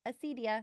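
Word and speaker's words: acedia: Little dictionary girl just told me. Acidia. That's how you say it.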